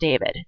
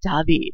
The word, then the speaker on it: David: It looks like David, but of course we can't pronounce it David. David.